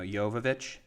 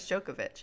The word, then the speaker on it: Jovovich: her last name though jovovich i thought it was jokovic it's joke but i